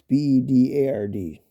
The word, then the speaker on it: Bedard: man center named Connor Bedard, or Bedard, I think that's how you pronounce it. It's Bedard.